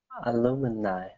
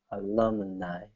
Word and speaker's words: alumni: Alumini. Alumini. So instead of illumini. Alumi. Let's do alumni. There you go. Alumni. So, three syllables in that way.